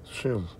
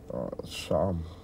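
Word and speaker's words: שם: The word name in the Hebrew. Shem. Or the Hebrew pronunciation would be Sham, which is name.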